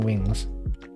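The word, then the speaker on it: Wyngz: the chicken wings like it spelled like this and i always i always thought it was like oh it's just someone you can't talk it's just like a wacky way to say wings right but it's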